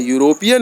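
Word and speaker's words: European: है यह वावेल है लेकिन उच्चारण जो का हो रहा है यूरोपियन हो रहा है यूरोपियन हो रहा है जो कि कंसोनेंट है इसलिए ए का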